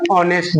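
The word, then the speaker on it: honest: ना आवर बोलेंगे ऐसे बहुत सारे लोग नेस्ट बोलते हैं नेस्ट नहीं होगा ओ के बा ओ से पहले हमारा एच है यानी एच के बाद ओ है तो एच हमारा साइलेंट हो जाए नेस्ट बोलेंगे नेस्ट नहीं ऑनेस्ट बोलेंगे ऐसे ही हनर बहुत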